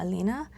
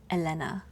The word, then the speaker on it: Elena: And again, if you are tuning in mid video, I would normally pronounce her name as Elena or Alina, but based on the hungle from the artist, I am calling her Elena.